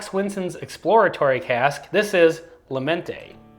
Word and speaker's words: Mente: This is Mente. We're going with Mente on the pronunciation.